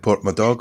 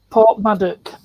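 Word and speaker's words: Porthmadog: I would have passed that going to Port Madog, wouldn't I? Port Maddock. Port Maddock. Get your Welsh What did you do pronunciations yourself?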